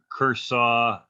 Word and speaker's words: Khosrow: So from the stages of humanity, so from Zoroaster and the ancient legendary king Kursaw all the way. Khosrow, yeah. I never knew how to pronounce that correctly.